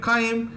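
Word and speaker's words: chyme: Chime, chime, chime. So it's ch. If I would have studied kaim, I do not know. I might have written it a different spelling. So in biology to remember the spellings, pronounce it the way it is actually written.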